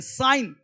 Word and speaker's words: sign: जी साइलेंट नेट मच्छर एस आई जी एन साइन जी साइलेंट है चिन्ह रिजाइन जी साइलेंट देना रेन शासन करना डिजाइन रचना देखो एम के पश्चात एन साइलेंट रहता है।